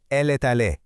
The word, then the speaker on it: elle est allée: It's elle est allée, pronounced elle est allée.